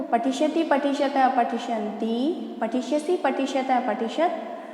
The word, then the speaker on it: पठिष्यतः: तो पठिष्यति, पठिष्यतः, पठिष्यन्ति। नेक्स्ट लिखा है पठिष्यसि, पठिष्यथः, पठिष्यत। आप लोग देखिए यहाँ पर जो 2 डॉट विसर्ग लगे उनका उच्चारण भी आपको करना जरूरी है, ठीक है।